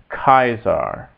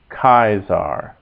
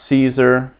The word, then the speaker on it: Caesar: us a and e a a is is in English like the like the first vow in Isle and so that's kaisar kaisar not Caesar uh cuz the C is always hard in Latin makes a